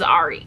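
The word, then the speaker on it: Arie: pronounce his name properly I only know it's re because he literally just said on TV that his name was Ari I cringed very hard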